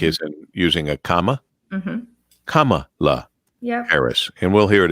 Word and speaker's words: Kamala: It is Kamala, like is in using a comma. Kamala Harris.